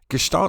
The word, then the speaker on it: Gestalt: of behaviorism for instance gestal psychology and by the way it it's pronounced with an sh it's German so the the suggestion